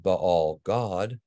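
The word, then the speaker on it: Baal-gad: was often coupled with Baal God, which according to the Masoretic vowel pointing in the book of Yahushua is pronounced Baal God, this same name is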